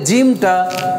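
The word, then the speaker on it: جيم: উচ্চারণে কি ভিন্ন সেক্ষেত্রে জিমটা জিমটা হচ্ছে জিহ্বার মধ্যখান উপরের তালুর সাথে লাগবে জিহ্বার মধ্যখান উপরের তালুর সাথে লেগে চাপ দিতে হবে ময়না যদি আমরা সাপোজ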